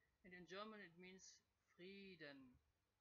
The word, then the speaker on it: Frieden: The long vowel E, so you would see the letter E as the reason for the sound E in free, but actually it is the I, because in German the I is the E in straight languages.